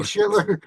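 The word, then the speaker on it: Schlittler: I drafted oh boy, he's a Yankee, but I always pronounce his last name wrong. Slater, Shitler. Slater, Shitler. I think Yeah, it's Cam Shitler.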